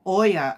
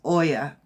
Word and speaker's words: Oya: one for dress oh Oya o y a I think that's how you say it Oya and it's change number